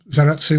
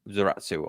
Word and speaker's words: Zaratsu: So, again, um Zeratu is a Japanese bastardization of the original polishing machine name.